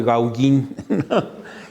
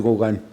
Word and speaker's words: Gauguin: Una vez pasaron un documental de Gauguin y le digo, oye, van a pasar uno de Gauguin. Y ya me dijo, no, es Gauguin.